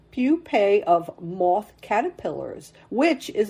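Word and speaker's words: pupae: p AE I did not know that word pupe it's pronounced I had to look up the pronunciation pupe of moth caterpillars which is a favorite food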